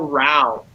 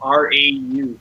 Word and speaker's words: Rau: They will stay with the Wild and take Kyle Rau, or Kyle R-A-U. Kyle Rau, I believe is how you pronounce his name.